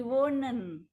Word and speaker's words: wonen: Yang ditutup itu bacanya pendek, yang panjang itu yang tidak ditutup oleh huruf mati, jadi won't, stamnya won't, jadi tambah TC, won't in a house in Jakarta.